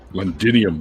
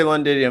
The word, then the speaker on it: Londinium: the old londinium roman fort londinium this sounds like an element no don't say londidium because they're just going